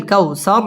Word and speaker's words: الكوثر: ইন্না আ'তাইনাকাল কাউ, ওয়াও ঠোঁট গোল করে উচ্চারণ করতে হবে। কাউ জবরের বাম পাশে জাজম ওয়ালা ওয়াও, লিনের হরফ তাড়াতাড়ি পড়তে হবে। কাল কাউসার র পুর হবে এবং ওয়াকফ করতে হবে।